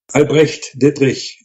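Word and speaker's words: Albrecht Dittrich: Albrecht Diedrich. The Dich sound is a tough one for American speakers.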